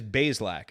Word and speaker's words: Bazelak: And by the way, it is Bazelak. It's 2 syllables. Dustin DePirac confirmed this. It's not Bazelak or Bazelak. It's Bazelak. 2 syllables. Bazelak.